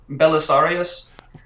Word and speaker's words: Belisarius: is conceptual release um correct me if i'm saying this correctly belly sorius belisarius there we go um probably acceptable pronunciation with this idea come